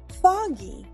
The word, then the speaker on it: foggy: Even though there are two G's in this word, both of the G's make the hard G sound. Foggy.